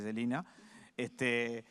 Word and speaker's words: Selene: Bien, porque se escribe Selene y se dice Celina.